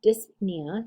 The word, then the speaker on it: dyspnea: of no breathing apnea dyspnea or dyspnea see that p it kind of disappears with apnea we definitely